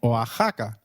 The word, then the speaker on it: Oaxaca: While X is usually pronounced as X inflexible, it is pronounced as a throaty H in the words Mexico, Mexicano, and Oaxaca, which is a state in Mexico.